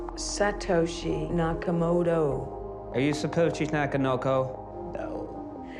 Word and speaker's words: Satoshi Nakamoto: Are you Satoshi Nakamoto or not? No. Satoshi Nakamoto. Yeah. Are you Sushi Nakamoto? Satoshi Nakamoto.